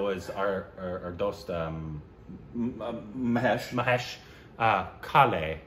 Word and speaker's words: Kale: singer in the same tier as Mahesh Kale, pronounced Kale.